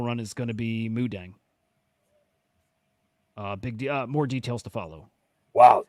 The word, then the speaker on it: Moo Deng: Well, how do you pronounce it? Moo Deng? Moo Deng, right?